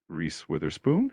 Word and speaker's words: Reese Witherspoon: The name is pronounced Reese Witherspoon.